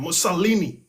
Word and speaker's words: Mussolini: Oh, how do you pronounce that dude's name? Mussolini, okay?